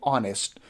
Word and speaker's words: honest: like we have word like honest we don't pronounce her here we don't say honest we say honest or we have another word like a honor